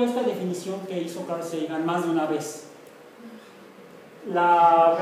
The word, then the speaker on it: Sagan: Lo pronuncia Sagan porque él nació en Nueva York. Entonces la pronunciación anglosajona, Sagan.